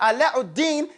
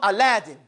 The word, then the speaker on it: Alauddin: They mispronounce his name, but Alauddin, they call him Aladdin. Okay? But the word is Alauddin.